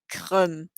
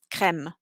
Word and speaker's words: crème: For example, crème, crème. It's like an EH sound almost, or fièvre.